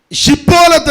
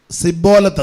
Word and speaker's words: ഷിബോലത്ത്: സ്തോത്രം എങ്ങനെ സ്തോത്രം സ്തോത്രം ഷിബോലത്ത് എന്ന് തന്നെ പറയണം സിബോലത്ത് എന്ന് പറയരുത് പടലി കാണുക അല്ലതാ ടെസ്റ്റിംആ